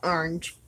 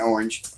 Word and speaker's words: orange: You said, please quit saying orange. Because you only use one syllable. It's orange. It is orange. There are two. There are two syllables.